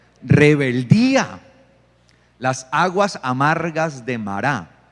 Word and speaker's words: Mará: las aguas amargas de mará algunos dicen Mara Bueno pero la la pronunciación correcta es mará sí de mará Okay